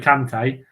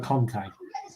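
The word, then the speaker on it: Kanté: N'Golo Kante, they call N'Golo Conte. Conte's the manager. Kante's the player.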